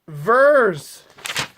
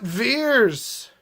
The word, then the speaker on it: Vers: This is pronounced Vers, not Veers.